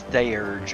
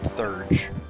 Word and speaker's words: Theurge: I'm very happy that they didn't try to this is wrong right because it is Theurge, it's not Thurge.